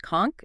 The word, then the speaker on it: conch: Kunch, pronounced conchk is king.